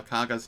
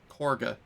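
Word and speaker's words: Kagha: Kaga's name correctly because my ears hear it as Corga, but that's not how it's spelled. And it I Yeah, I don't know. I'm just going to keep referring to her as Kaga cuz it. There's no R there.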